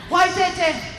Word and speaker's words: Waitati: Anybody know the correct pronunciation? Waitete.